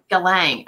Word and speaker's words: Galang: do you say your last name Rachelle billing Galang okay so I always do like my Kevin